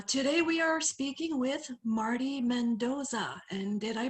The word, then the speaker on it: Marty Mendoza: i'm angel uh today we are speaking with marty mendoza and did i pronounce that right you did okay it's an